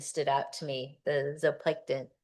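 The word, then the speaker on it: zooplankton: The zop plankton, zoplanton, how do you say it? Z just zoplankton.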